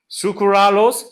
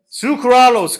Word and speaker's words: sucralose: can you read this how would you pronounce this say it sukuralos sucaros sucralose great yes true Cruise sucrose versus sucralos okay sounds fish smells